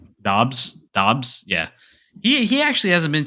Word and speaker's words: Doubs: Dobbs.